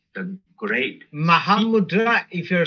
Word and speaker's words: Mahamudra: again m style is mahamud you see but it's like if you're saying it's slow for people to hear then um you know you will say mahamudra so common pronunciation because